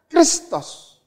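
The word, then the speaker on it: Χριστός: Bacanya Kristos. Kristos bukan bahasa Yunani.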